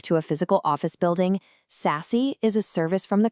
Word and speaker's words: SASE: And yes, it's pronounced sassy.